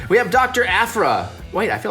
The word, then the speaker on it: Aphra: Aphra white I feel like I said it right it could be April but I'm pretty sure it's Afra so she is a